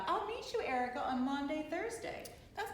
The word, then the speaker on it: Maundy: meet you, Erica, on Maundy, Thursday. That's not usually something you say, is it? No, sounds like laundry. I know, right? It sounds like laundry. Yeah. Rhymes with laundry.